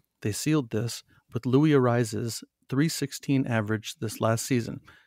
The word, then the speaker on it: Arraez: He does the rolling of the R's with a double R. So when they announce him, they say Louis Arraez.